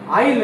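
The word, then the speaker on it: aisle: will বা আইসল হতে পারে আর এইসলে আইলে এরকম উচ্চারণ করে আইসলে মানে স্পেলিং এরকম কর কেন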